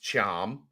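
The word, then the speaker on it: Thiam: Mustafa Cham, that's how it's pronounced, Cham. Like TH, the TH makes a CH sound, Cham.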